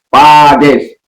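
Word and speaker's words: πάντες: Pantes itu atau kalau membacanya adalah Pades. NT itu NT bertemu itu dibaca dengan D.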